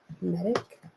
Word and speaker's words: Medic: left think about Cindy medic medic medic sounds like Medici but it's like medic medic say yeah medic